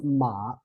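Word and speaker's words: 马: When we pronounce ma, the tone is third tone, right? And then when we pronounce this one, the whole character ma, is actually neutral tone.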